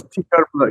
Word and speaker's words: Coeur Bleu: That's different than what I successfully convinced you to instead do this Coeur Bleu. Am I pronouncing that right? Coeur Bleu. Close, very close. Coeur Bleu.